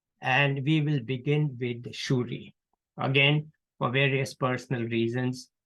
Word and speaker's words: Suri: have a town which in Bengal is called shuri but it's often written as Suri because that's how they say it in Indi and pasim